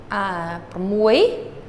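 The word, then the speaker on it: ប្រាំមួយ: And when they do that, pramoy, I said it correctly earlier, but this is the accented syllable, or the accented word of the two.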